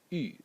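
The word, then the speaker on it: 玉: element, or this character over here, which is pronounced u, and it means jade.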